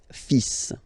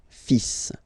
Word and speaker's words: fils: Okay, so it's le, and then even if you've got this L, well, basically you don't pronounce it, and then strangely you pronounce the final S. Le fils. Le fils. Le fils.